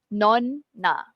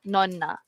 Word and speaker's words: nonna: sekarang non naona na kalau kat Malaysia kita selalu dengar nona yang non tu kan tapi tu ada satu N yang ni dua N so again non na okey tak payah break sangat tapi kena tekankanlah non na tadi non no yang